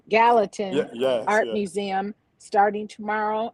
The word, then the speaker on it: Gallatin: The Gatlin Gatalin pronounces Gallatin.